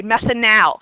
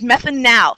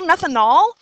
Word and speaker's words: methanal: when you're pronouncing this you need to summon all of your Western New York nasal accent and really C and really lay on that final a methanal this is methanal because if you say